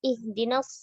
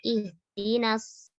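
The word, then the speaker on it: اهدنا: Ayat berikutnya ihdinas siratal mustaqim. Tipiskan huruf hamzah, sempurnakan harokat kasrohnya. Jangan menyerupai huruf e dan jangan dibaca dengan isba.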